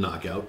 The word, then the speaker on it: knockout: kick kill knockout well the K is silent in knockout but you get her